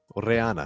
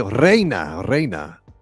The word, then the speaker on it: Reina: Reana. No, I was trying to say Queen. Oh, sí, Reina.